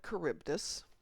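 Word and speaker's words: Charybdis: uh you put in the Greek uh pronunciation in American English it's sila and caribbdus I got into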